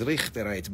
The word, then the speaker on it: Richterite: That's how they say it there, is Richterite. But rich.